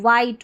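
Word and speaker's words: white: डब्ल्यू एच हमारा दो letter एक साथ में मिलकर आएगा। इसको व करके पढ़ देना। आप ऐसे पढ़ देना। व। ठीक है? व और आई टी ई को आई पढ़ते हैं। तो वाइट हो गया।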